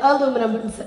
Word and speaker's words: ELUMINUM: So it's like aluminum, except it's with the E. ELUMINUM.